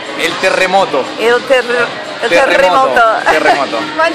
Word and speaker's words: terremoto: How do you say it in Spanish again? The earthquake in Spanish is el terremoto.